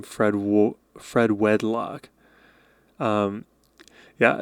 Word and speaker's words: Fred Wedlock: It's not Fred Warlock, it's Fred Wedlock.